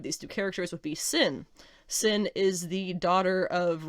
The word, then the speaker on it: Sin: It's like Cindy maybe, but it's spelled S-I-N, so it's Sin is what they call her.